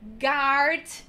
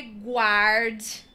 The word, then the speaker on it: guard: ok lauryn hill guess garde não é guarde muita gente confunde por conta do som do em português nesse caso jeú garde